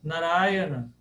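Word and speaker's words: Nārāyaṇa: vou eu vou vou passar aqui a nar narayana Pat me perguntou qual é a pronúncia naran na n Essa é a pronúncia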